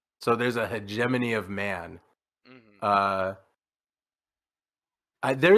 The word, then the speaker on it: hegemony: the H the the hegemony I've always pronounced this word when I've seen it as hman but I have no reason to believe that's how it's pronounced so there's a hegemony of man uh I